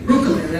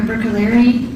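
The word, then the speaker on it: Bruccoleri: Brookeri, I'm sorry. Can you please state your name and spell it for the record? Sure. It's Dr. Rebecca Brookaleri.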